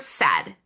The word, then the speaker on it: said: We're going to point out that that middle sound e is pronounced with that short e sound e, but it's represented by the letters a i.